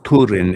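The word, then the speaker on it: Túrin: Well, it's Turin, and it's supposed to rhyme with Hurin because all of the names had fucking like rhymes and shit in the silver.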